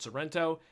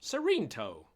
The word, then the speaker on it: Serento: He says, actually, it's not Sorrento. It's pronounced Serento.